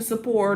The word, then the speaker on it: support: little note that says pronounce support rhyming with border. Okay, leaving her borders all to support us.